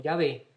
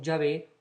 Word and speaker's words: Yahvé: nombre santo, el tetragrama, las 4 consonantes que nosotros pronunciamos como Yahvé, ellos no podían pronunciar el nombre de Dios, obviamente.